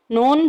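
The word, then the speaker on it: نون: नून pronounced from the टिप ऑफ the tongue touching the gums of द टॉप 4 front teeth.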